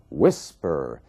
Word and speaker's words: whisper: Você vê que a força da palavra, a sílaba tônica, está na primeira parte. Whisper.